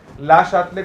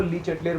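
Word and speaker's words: Le Chatelier: Indian ला शातले को ली चेटलेर बोलते हैं, पढ़ोगे आप केमिकल इक्विलिब्रियम में आगे, और डी ब्रॉय को हम लोग डी ब्रोगली बोलते हैं।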